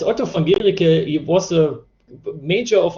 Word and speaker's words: Otto von Guericke: Actually, the university is pronounced Otto von Guericke.